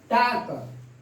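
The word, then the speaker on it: talk: इसके है जब भी एल के पहले ए हो, यू हो और ओ हो, एल के पहले ए हो, यू हो और ओ हो तो एल का प्रोनाउंसिएशन नहीं होगा। हाफ, हाफ, टाक, टाक, इसको हम टाल्क नहीं बोलेंगे, कुछ बच्चे ऐसे बोलते हैं, टाल्क बोलते हैं, तो वह गलत है।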